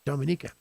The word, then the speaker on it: Dominica: from dominica i said it right this time dominica his name is rory jackson his call sign